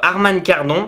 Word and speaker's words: Harman Kardon: Deux haut-parleurs Harman Kardon, normalement on prononce comme ça, qui prendra bien entendu en charge les pistes audio Dolby et DTS.